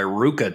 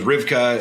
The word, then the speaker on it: RVCA: I mean, I got so many Ruka hats, and for the longest time, I thought it was Rivka and RVCA, and I didn't even know how to pronounce it until more recently.